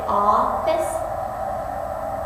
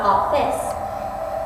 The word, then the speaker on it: office: soft unaccented word office you say office not off this so accent an accent